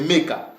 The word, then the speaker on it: Meka: Là, au moins, Edom a réussi la bonne prononciation. C'est Meka.